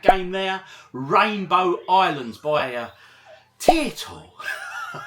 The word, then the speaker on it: Taito: there rainbow Islands by a tile everyone always says you pronounce it wrong OG so now I just pronounce it like the Irish crisp and everyone seems happy